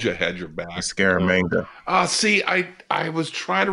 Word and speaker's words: Scaramanga: Scaramanga. See, I was trying to remember how to pronounce that. Scaramanigan?